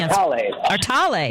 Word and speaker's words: Artale: How do you say it? Artal and Company? Artale. Yeah, Artale. Yeah. Artale and Co. Go ahead. That's the way I pronounce it anyway.